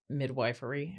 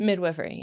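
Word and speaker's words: midwifery: For midwifeery. How how do you say it? Midwiffery. Midwiffery.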